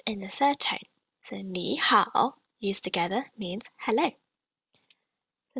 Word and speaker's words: 你: So this is pronounced like this. 你. Again. 你. So notice how my tone drops from about just slightly below medium pitch, and then rises to just slightly above medium pitch.